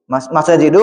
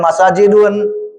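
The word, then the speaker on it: مساجد: Masajidu mengikuti wazan mafail, maka dia termasuk mamnusharaf, dilarang tanwin. Masajidu dibacanya, enggak boleh masajidun. Karena dia mengikuti pola ini, mafailu.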